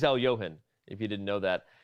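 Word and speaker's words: Alekhine: the other things surrounding the alakin as he's often pronounced but it is Al Yohan if you didn't know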